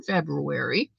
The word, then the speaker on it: February: stitch she used in February. And I say February because that's the way it's spelled, February.